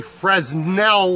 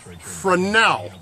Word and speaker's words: Fresnel: Ladies and gentlemen, this is not a Fresnel lens. That's a mispronunciation. It's pronounced Fresnel lens.